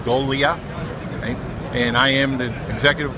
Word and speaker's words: Golia: Okay, my name's John Golia, G-O-G-L-I-A, pronounced Golia.